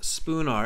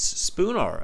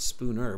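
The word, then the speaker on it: Spoonar: he says it twice spoon r s p o o n a r spelled with an a right yes so not Spooner but spoon R Street okay the city's Liverpool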